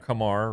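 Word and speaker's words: Kumar Rocker: Well, it's like Kamar Rocker, right? Kamar rhymes with Lamar.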